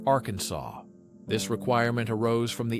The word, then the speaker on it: Arkansas: It must be pronounced with a silent ending, like Arkansas.